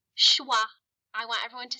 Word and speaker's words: schwa: good that's two vowel sounds so that's two syllables all right today we're going to learn a new vowel sound and it's called shwah I want everyone to say shwah I love to say it ITW that's not